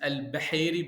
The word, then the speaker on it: Beheiry: miss the H, the Arabic H, which is Al Bahiri, but so Al it's Beheiry.